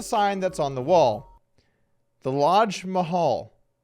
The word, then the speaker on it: Lodge Mahal: The Lodge Mahal. I'm pretty sure it's because the Lodge rhymes with Taj.